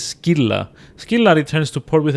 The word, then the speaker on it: Scylla: In 1847, after months of pursuits, I can't pronounce it like the game does. It's Scylla.